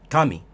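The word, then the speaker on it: 神: word flat aaka nowaka nowaka is essentially the first letter having a high pitch while the rest while the rest of the syllables or Moa are completely low pitch going forward here's an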